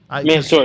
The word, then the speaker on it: Mansoor: Mansoor, yeah.